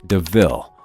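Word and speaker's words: De Ville: car called a panther Deville and points out the similarity to the word devil though it's pronounced DeVille Estella quite likes the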